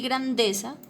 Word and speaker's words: grandeza: Y grandeza tiene el acento en la sílaba de, ¿listo?